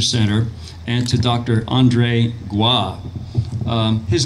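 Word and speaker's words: Goy: Andre gua his name is spelled G oh why and you wouldn't think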